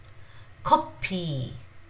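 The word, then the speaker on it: 커피: So Konglish is when the English words are pronounced the Korean way. So this is, if you want to write coffee, it will be spelled as copy, copy, copy.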